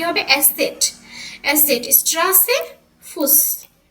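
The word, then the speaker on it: Eszett: হচ্ছে কি ক্লান্ত আর এসেট দিয়ে দিয়ে যে এসেট এখানে এটা কি এটা ডাবল এস বোঝায় এর উচ্চারণটা কি হবে এসেট এসেট স্ট্রাসের ফুস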